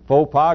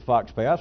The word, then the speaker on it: faux pas: You can pronounce faux pas, go ahead and pronounce it Fox Pass like God intended.